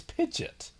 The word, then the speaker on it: Pidgeot: don't know and like so many people called a Pidgeot that now that's the official name and they use them interchangeably like what no pitch yet it's it's spelled terribly like I'll give you that if there was no o less people would be confused but I still think yeah it's Pidgeot also hey Pokemon anime